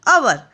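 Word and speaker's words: hour: क्योंकि इनका जो साउंड है, हम हवर नहीं बोलते हैं, इसको क्या बोलते हैं हम? अवर।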